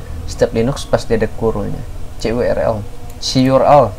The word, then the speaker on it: curl: Linux pasti ada curlnya, curl. CURL, nah itulah harus bacanya kayak gitu, CURL.